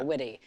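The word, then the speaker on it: Witte: with your longtime collaborator Sammy is it wit pronounced witty witty yeah witty and he's worked with Harry Styles and Maggie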